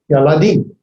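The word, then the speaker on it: ילדים: And its plural is Yaladim. Ya-la-din. Yaladim.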